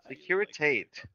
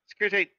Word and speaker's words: Securitate: Securitate is the wiki pronunciation. Securitate. And I'm not sure if I'm reading it how it's meant, because. It still just has T-A-T-E, which, I don't know. You know what? Let's just see how this goes. Pronunciation. What does Google say? Going to figure out. Yeah, it's saying Securitate. Interesting. Okay. All right. Securitate, it is.